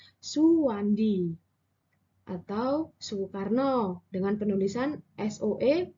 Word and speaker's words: Soewandi: ejaan Republik nah pada ejaan republik ini huruf Odan huruf e e berubah dibaca menjadi huruf atau kata suhu contohnya adalah Suwandi atau Soekarno dengan penulisan